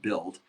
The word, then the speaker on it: BUIDL: And BIDL is spelled BUIDL, which is like, the Ethereum way to say, build.